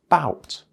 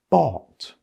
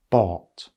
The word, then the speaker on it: bought: of it well obviously it's going to become bout but that isn't correct either this word is not bout isn't buffed this word is pronounced bought bought bought is simply the past tense of to